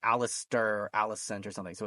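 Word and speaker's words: Alliser: it's Alistair without the T. Alistair. Alistair. Okay. I keep Yeah. wanting to say like Alistair, Alicent or something.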